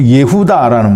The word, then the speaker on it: 예후다: 그래서 그 아들의 이름을 유다, 이제 본래 히브리 발음으로 예후다라는 말인데요.